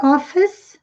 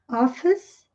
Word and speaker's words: office: Speak to your office manager. Dica de pronúncia agora. Office, office, sem pronunciar o E no final.